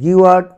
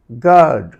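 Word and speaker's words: guard: যেমন এখানে যদি ইউ এর উচ্চারণ করতে যাও তাহলে গিওয়ার্ড উচ্চারিত হওয়ার কথা, কিন্তু ইউ এর উচ্চারণ যেহেতু হচ্ছে না সেহেতু এখানে হবে গার্ড, গার্ড, গার্ড।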